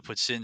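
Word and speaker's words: poutine: having never been to Ottawa what is the puts in situation look like there is there a specific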